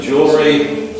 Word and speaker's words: jewelry: Pronunciation single, double, triple, triple jewelry, jewelry. Just like jewel jewelry.